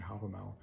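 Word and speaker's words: Hávamál: That's mentioned one time in the poem Havamal, modern Icelandic pronunciation Havamal, that he sacrificed himself on the tree whose roots no one has ever seen.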